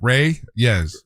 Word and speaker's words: Reyes: You know, Brianna Reyes is a young lady that won Ryz Ryz. Okay. Yeah. R E Y. Rayz. Okay. What did I say? Rey? Yeah, you say it wrong.